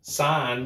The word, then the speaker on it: sign: Sign, because what is signing? It's a sin. Yeah. Do you see that? So in sign, the G is silent, and this is the truth.